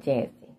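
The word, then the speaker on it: Jassi: It's Jassy. But they call it Jazzy. But it's spelled J-A-S-S-I.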